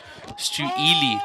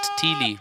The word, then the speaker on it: Stu Ely: name wrong there, Uncle Stu. Should be Stu Ely, not Teely.